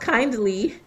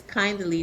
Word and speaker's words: Kaindly: It's pronounced kindly, but We it's were wondering how to say it, so thank you. yeah, it's kindly. So I replaced the I with AI, but it's grounded in